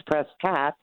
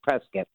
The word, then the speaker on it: Prescott: from I guess if it's California it's presat and if you're from Arizona it's Prescot yes presc it's like biscuit but you do because